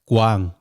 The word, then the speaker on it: Quang: written down in english so my name in vietnamese if you say it's actually pronounced guang that was the struggle